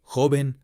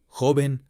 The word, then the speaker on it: joven: Spanish, সেই স্প্যানিশের উচ্চারণে, অর্থাৎ যেটা স্পেনের স্প্যানিশ, সেটা উচ্চারণে কিন্তু খয়ের মতো উচ্চারণ হয়, খ। এবার আমি অডিও গুলো প্লে করব শব্দের সঙ্গে, আপনারা শুনেই বুঝতে পারবেন। Jamón, jardín, joven, ojo, trabajo.